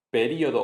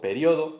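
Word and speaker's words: período: Hay palabras que aceptan doble prosodia correcta. Prosodia es acentuación. Aerobic y aerobic, Haiku yiku, periodo o periodo. Aquí hay una lista grande, vídeo o video, que se le encanta a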